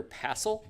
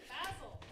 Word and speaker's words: passel: She's raising her pleel. Is that how you say it? Passel. Passel.